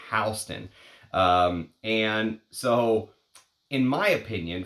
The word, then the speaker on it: Halston: She would say his family name is Halston, but Halston is a force to be reckoned with in you know, the business sense. But she used to claim that his correct pronunciation was Halston.